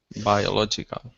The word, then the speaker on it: biological: So the reason we don't say bio, the reason we don't say that is because O is in a different syllable. In other words, the by is isolated, therefore you say by.